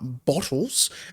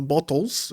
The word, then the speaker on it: Bottles: gaming outside of steam uh bottles or bottles is what I usually like to pronounce it as.